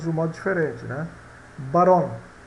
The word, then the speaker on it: barón: Barón, quando eu falo barón em espanhol, posso estar dizendo macho ou barão, tá? São homófonos.